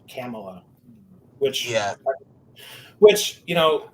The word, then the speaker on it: Kamala: __ ] huh but apparently it's not pronounced Kamala it's Cala which yeah which you